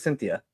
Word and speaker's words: Cynthia: Yeah, it's like Cynthia, but Cynthia.